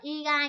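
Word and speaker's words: 意外: Đấy, nên đáp án nó phải là từ igai, chữ này đọc là igai các bạn nha.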